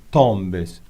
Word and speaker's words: tombé: Ils sont tombés. Ils sont tombés. Tombé, porque tiene acento, entonces claro, se pronuncia la E, tombé.